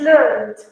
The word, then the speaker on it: learned: This is learn and this is learned. Final T. Learn, learned. You have to be careful with the pronunciation at the end, with the last consonant.